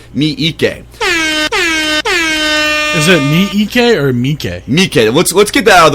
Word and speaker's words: Miike: Is it Miike or Miike?